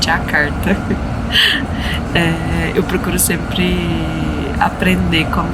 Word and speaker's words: Jakarta: Indonésia e e aqui a pronúncia Indonésia é d então por isso que a gente não fala Java é Java e nem jakarta é jakarta eu procuro sempre aprender